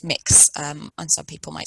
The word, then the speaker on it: Mx: And some of us use the title mix, which is spelt MX, instead of Mr. or Ms. And that's pronounced mix, and some people might say mux.